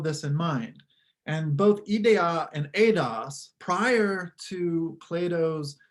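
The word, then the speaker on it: ἰδέα: It's just pronounced differently. So ideia versus idea.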